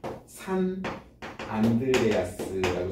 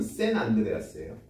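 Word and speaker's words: San Andreas: 이제 하여튼 뭐 그래서 요걸 아 산 안드레아스라고 써 놓긴 했는데 사실 발음은 샌 안드레아스예요.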